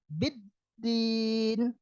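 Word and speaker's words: بِالدِّينِ: Yang berikutnya di situ ada huruf ba garis bawah b ditambah huruf da, b tambah d jadinya biddin.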